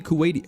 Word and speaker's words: Kuwait: Is there any Kuwaiti? I'm probably butchering that pronunciation.